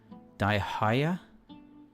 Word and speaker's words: Dehya: a second here soup technically it's daihia just like Candace is Kanda kandake I is like in cat AKA is that right